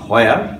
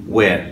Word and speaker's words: where: সবসময় আমি বলি নট হয়ার, হয়ার না, এটা হচ্ছে ওয়ের।